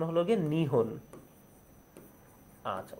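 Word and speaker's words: 日本: এই জাপানের অন্য আরেকটা নাম হলো গিয়ে, যদি আমরা লিখতে যাই তাহলে হবে হলো গিয়ে নিপ্পন, কিন্তু উচ্চারণ কি? উচ্চারণ হলো নিহন। উচ্চারণ কি? উচ্চারণ হলো গিয়ে নিহন। আচ্ছা, উচ্চারণ হলো গিয়ে নিহন।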